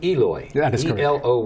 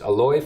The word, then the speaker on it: Eloy: take them serious uh but we would say eloi but it's pronounced yes remember that folks aloy francisco matcha on the ballot okay alloy you